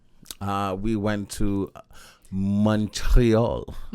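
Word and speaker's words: Montréal: Uh, we went to Montreal. Morale.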